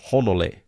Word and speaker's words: Hanalei: So if I was to go to Hanalei, it would be okay if I said Honolei.